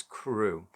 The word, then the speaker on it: Carew: have a look at crew manner and it's spelt c-a-r-e-w but everywhere i've seen people have been pronouncing it as crew so let's go along